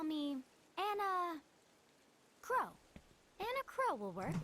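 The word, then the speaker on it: Kros: can call me Anna crow and a crow will work in a crow okay so it's not crows just Crow the S is silent good to know okay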